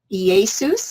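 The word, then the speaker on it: Ἰησοῦς: Greek it's 24 24 EA Seuss is how you pronounce it in Greek and it says of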